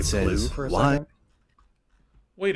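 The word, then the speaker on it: plugh: I'm just wondering if everybody could just say plu for a why? Second. Wait a minute. Wait. I gotta scroll back here because I want to see something. Because plu. Plu. Okay. It's pronounced pluff.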